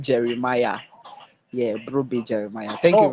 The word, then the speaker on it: Jeremiah: Jones, when you're pronouncing my name, you made a horrible pronunciation. It is Brobe Jeremiah. Yeah, Brobe Jeremiah. Thank you Oh, very much. sorry. Did I call you Jemima?